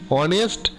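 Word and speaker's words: honest: অনেস্ট এইচ থাকলেও কিন্তু উচ্চারণটা যেহেতু ভাওয়েলের মতো হচ্ছে, তাহলে তার আগে কি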